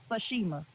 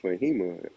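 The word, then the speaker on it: Faheima: I know you can read my name. So there's no S in my name. So don't pronounce my Fashima if you don't see no S. That's not my name.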